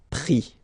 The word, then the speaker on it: pris: And then prendre, so E-N-D-R-E will give I-S, pris, okay. Same thing here, you don't pronounce the final S, okay.